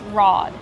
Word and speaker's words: rod: Kevin, how do we pronounce rod? Rod. Use the open ah sound like hot and stop.